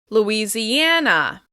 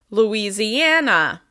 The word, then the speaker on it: Louisiana: Like Indiana, it's stressed on the second to last syllable. Louisiana, Louisiana, Louisiana.